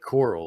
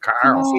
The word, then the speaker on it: Carl: He always he always pronounced it as like coral, like sea coral. You know what I mean? Like, hey Jeremy, that's not how that's not how they pronounce it down in the south, you know. Jeremy, get on here. More like Carl.